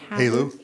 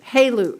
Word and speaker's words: HALEU: HALEU. HALEU, okay, from downbending high enriched uranium.